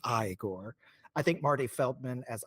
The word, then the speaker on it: Igor: them in various ways but Marty Feldman as igore because of course he kind of gives a wink at the camera when he hears Frankenstein pronounce his name as Frankenstein so he says his name is pronounced igore I think Marty Feldman as igore is just